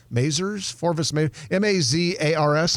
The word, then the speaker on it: Mazars: At any rate, this company is called Forvis Mazars, M-A-Z-A-R-S. How would you pronounce that? Just like you did. Forvis Mazars. Like it sounds.